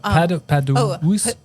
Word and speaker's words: Padukiewicz: McCoy's no problem, but Padukiewicz.